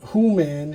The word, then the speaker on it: Who-Man: So when they the, uh, the beastly animals of this planet say his name, it sounds like who man.